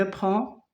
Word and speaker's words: prend: Je prends, tu prends, il prend, elle prend. C'est des lettres muettes qu'on ne prononce pas.